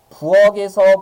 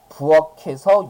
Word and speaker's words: 부엌에서: 이 주장 배우고 나면 부엌에서 부엌에서 이렇게 발음하시는 경우도 있거든요 근데 아니 말이 안 되죠 우리 지금 뭐 배웠어요 받침이 있는 말에 모음으로 시작하는 형식 형태의 부엌에서 요리를 하고 계신다 이렇게 써야 되지 부엌에서라고 발음을 하등의 이유가 없습니다 그러면 여기서 갑자기 이런